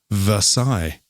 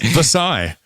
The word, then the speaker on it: Versailles: approximately eight miles outside versailles i'm using the french um pronunciation pronunciation right yes versailles in north central kentucky